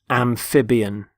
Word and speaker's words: amphibian: first word is amphibian amphibian notice the stress on the middle syllable amphib amphibian there are animals such as